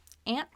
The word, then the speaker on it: aunt: or your dad's sister, aunt. Some people say aunt, that's okay. But for the purposes of this lesson, let's say aunt. Aunt and aunt are pronounced the same. Rhymes with can't.